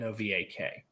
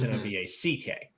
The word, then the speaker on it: Novak: Because like Kim Novak, the actress, and BJ Novak from The Office spell it Novak, but it's Novack.